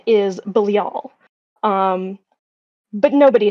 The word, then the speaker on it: Belial: his actual name is pronounced the the hebrew pronunciation is bilial um but nobody says it like that in japan they say belial or they say beriyaru um which is basically belial uh in the